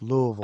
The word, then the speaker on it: Louisville: we come to how do you say it louville say say say it like you got golf balls in your mouth Louisville I can't Louisville Lille Louisville Louisville Louisville don't